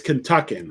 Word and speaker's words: Kentuckian: It's Kentuckian. That's how you say it, Kentuckian.